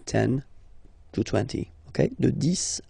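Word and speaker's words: dix: to 20, okay, de 10 à 20, okay, so let's start now. 10, okay, so remember, final X here is pronounced like S, 10, 10, okay, then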